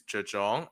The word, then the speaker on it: Zhang: Yeah, I I think the correct pronunciation is Jong.